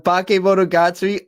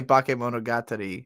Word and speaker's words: Bakemonogatari: I understand now why people get so mad at me for how I pronounce this show, because I also say Bakemonogatari. It's like Bakemonogatari, you know, like it's like meant to be said very differently from how English speakers say it.